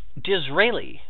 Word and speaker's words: Disraeli: Alrighty, Disraeli. I don't know who the fuck that is, but it's spelled like Israeli, but with a D.